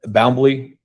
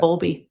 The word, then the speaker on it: Bowlby: Okay, and it's Boundley. I'm mispronouncing that. Bowlby.